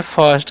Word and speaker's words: first: Next हमारा FIRST, इसे लोग पढ़ते हैं फर्स्ट। क्या पढ़ते हैं जी? फर्स्ट पढ़ते हैं। ठीक है, इसे फिस्ट नहीं पड़ेगा। आई का उच्चारण यहाँ पर अ करना है।